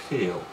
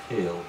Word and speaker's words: geel: Yellow or geel. Geel? Geel. Okay, like hell?